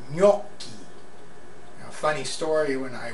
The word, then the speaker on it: gnocchi: And it's not pronounced yucky. It's gnocchi, and it's a pasta, an Italian pasta.